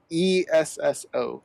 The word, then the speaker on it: Esso: E-S-S-O. Esso, okay. The E is silent.